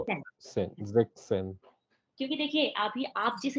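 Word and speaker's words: sechzehn: हाँ, तो हो जाएगा जेक्सन, यहाँ पे एस कट ऑफ हो जाता जेक्सेन, जेक्सेन, है।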